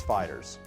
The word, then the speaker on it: FighterZ: Today, we're looking at Dragon Ball FighterZ, and yes, I checked the pronunciation on that, it's Fighters.